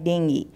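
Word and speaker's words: dengue: यदि आप इंग्लिश में बात कर रहे हैं तो आपको बोलना है डेंगी, डेंगी। तो बिल्कुल भी घबराइए मत, यदि आप डेंगी बोलते हैं तो आप बिल्कुल उसका सही उच्चारण कर रहे हैं अभी तो पार्टी, पार्टी नहीं, पार्टी नहीं, पार्टी, ठीक है, पार्टी।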